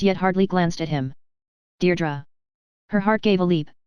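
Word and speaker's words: Deirdre: She had as yet hardly glanced at him, Deardra. Her heart gave a leap and then stood still. Only one person had ever spoken her name like that, with the faint stress on the first syllable that made of a caress.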